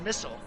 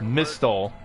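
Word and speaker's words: Mistle: it's a missile yeah it's pronounced missile it's weird it's like an alpha that's not a missile that's mystal yeah but they pronounce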